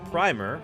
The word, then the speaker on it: primer: But in British English, the pronunciation that is closer to primer, rhyming with climber, is usually used for all the meanings.